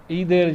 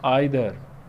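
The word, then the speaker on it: either: अब ये दोनों जो हैं ईदर इसको बोलें या आइदर बोलें, दोनों ठीक हैं। ठीक है, इसमें जो है डिफरेंस प्रोनाउंसिएशन का जो आ जाता है वो अमेरिकन इंग्लिश और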